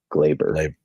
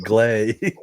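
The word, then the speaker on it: Gleyber: Yeah, I think you called him Glabber. Glabber. Yeah, Gleber. It's okay. I didn't call him out. It's like gray. Yeah. Yeah. That's But it's glee. Yeah. I pronounce it like gray. Like glay.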